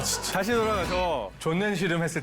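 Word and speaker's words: Sonnenschirm: 다시 돌아가서 존넨 시름 했을 때 여러분은 이런 걸 상상하게 되는데 똑같은 단어를 독일식으로 발음하면 사실 존넨 시름이 뭐냐면요. 다시 한번 신하영 씨. 이걸 읽으면 존넨슈. 맞아요. 존넨시엄. 존넨시엄을 한국식으로 표기하면 존넨시름으로 표기를 하더라고요.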